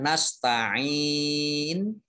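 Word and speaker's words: نَسْتَعِينُ: Kemudian nasta'in, ain kasroh, ya sukun, ini mad tobi'i.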